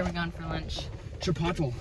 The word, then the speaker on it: Chipotle: Chipotle, as the Brits say. Our grandpa says, Sapoodle. And I think he was serious the first time, but now he just does it for our benefit.